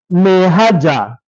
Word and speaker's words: Maihaja: For that, see the case of Maihaja. Maihaja is spelled m a i h a j a against Gaidam.